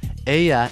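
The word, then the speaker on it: ella: with a feminine word remember to pronounce the Double L like a y we're not dealing with L Fitzgerald here Aya is the third person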